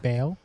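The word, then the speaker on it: Baal: B Apostrophe A L like Bale. Uh, some people pronounce it that way, but correctly it's pronounced ball for for this bit.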